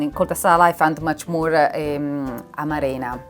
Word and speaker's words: amarena: I found much more amarena. How do you say? Amarena. Amarena. Yes. Change the accent. I think it's Amarena.